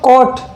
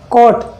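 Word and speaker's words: caught: यू कभी silent होता है, यदि वर्ड के लास्ट में कहीं पर भी UGH या UGST हो तो वो क्या होता है, वहां पर साइलेंट हो जाता है।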